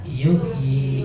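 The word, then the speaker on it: يُحْيِي: Cuman di Quran ditulisnya 1, aslinya 2. Kenapa kok nggak ditulis? Kok ditulisnya cuma 1? Dari sononya. Gitu rasulnya tuh begitu. Tapi kalau dibacanya jangan begitu ya. Khusus yang beginian maka ada yaun wahidatun tuqra'u biya'aini. Ada 1 yang dibacanya 2.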